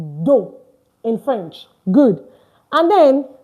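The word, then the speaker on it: deux: So it's d u d e u x but the x is not pronounced at the end. Take note of that. This x is not pronounced at the end. That's why I said do and not do.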